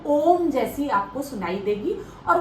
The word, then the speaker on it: ओम: के करना है, और ओम जो है वो 3 अक्षरों से मिलके बना है, अ उ म। जब आप अ बोलेंगे, गहरी सांस लेनी है, और फिर सांस छोड़ते समय अ उ म का उच्चारण करना है।